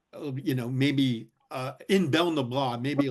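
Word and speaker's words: Béal na Bláth: I'm going to mess up the pronunciation. Belnabla. Belnabla, yeah.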